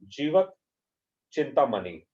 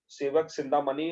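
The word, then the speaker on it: Jivaka Chintamani: It is S written over here, but it is pronounced as Jivak. Jivak Chintamani. All right. So Sivak Chintamani or Jivak Chintamani both are same in fact.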